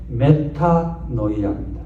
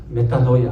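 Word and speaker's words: μετάνοια: 번역한이 원 단어가 뭐냐 희락을 하는 거예요 그게 메타노이아 예수님의 발하시 만에 메타노이아 하라 그랬습니다 한번 따라해 볼까요 메타노이아 메타노이아 예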